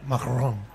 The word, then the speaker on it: Macron: Macron y lo dices. La has pronunciado muy bien, Rosa. ¿El qué? Macrón, que es como también la galleta esa que se compra allí, ¿no?